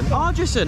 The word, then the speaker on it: Ardrossan: It's another place I can't pronounce properly. How do you say it, Theo? Ardrossan, okay.